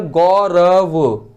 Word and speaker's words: गौरव: जैसे कि गौरव, तो वहाँ पे आ का उच्चारण नहीं है, रा पे है, गौरव, वहाँ पे उच्चारण नहीं है।